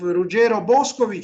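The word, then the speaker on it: Ruggero Boscovich: roger boscovich who i i intentionally use italian pronunciation of rugero boscovic who has streets in milan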